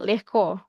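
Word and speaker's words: легко: Ee itu g tapi bacanya lehko. Kayak ada lehko.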